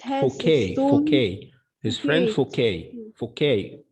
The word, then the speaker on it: Fouquet: When she told him that she had some papers which proved that his friend Forget has stolen. His friend Fouquet. Fouquet. The letter T here is silent.